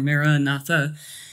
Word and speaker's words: Maranatha: an Aramaic phrase that depending on how you pronounce it Morana or Maranatha is the Lord has come